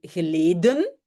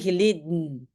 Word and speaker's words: geleden: dire dat is lang geleden. Et le geleden, c'est un peu bizarre. Donc, le E de geleden a disparu. Et on appelle ça dans la phonétique un coup de glotte.